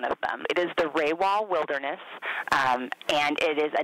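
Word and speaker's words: Rawah: do you say there's a few things people mispronounce and this is definitely one of them it is the Rae wall wilderness and it is a Native American term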